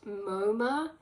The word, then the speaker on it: Momus: Momus was the ancient Greek god of mockery and harsh criticism, pronounced Moma.